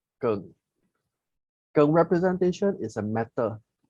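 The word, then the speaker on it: 庚: In Chinese, we pronounce as Geng. Geng.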